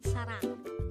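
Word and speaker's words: 사랑: The Korean term for love is sarang. Again, it's sarang. This is pronounced as a two-syllable word. The first syllable is sa, the second syllable is rang.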